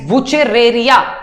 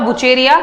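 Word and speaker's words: Wuchereria: Naming, pronunciation ठीक करेंगे, that is वुचेरेरिया, नॉट अ वुचेरिया। वुचेरिया कोई नहीं बोलेगा, दैट इज सिंपली वुचेरेरिया बैनक्रॉफ्टी, ठीक है?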